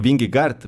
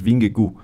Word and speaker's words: Vingegaard: Jonas bingo Por cierto nosotros decimos bingle porque no binglegart por una porque unos británicos entrevistaron a él y le dijeron Cómo se pronuncia tu nombre y dije y el hijo se pronuncia Jonas bingley entonces bueno cada una